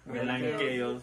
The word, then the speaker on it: MelanKOs: Pero entonces, ¿cómo lo pronuncias? Melanqueios, o sea...